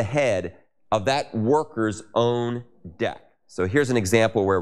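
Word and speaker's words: deque: a deck, which is typically spelled D-E-Q-U-E, deck, but it's pronounced like the deck of a ship.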